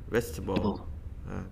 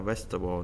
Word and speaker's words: vegetable: Vegetable. Bỏ luôn các bạn ha. Đó, vegetable nè.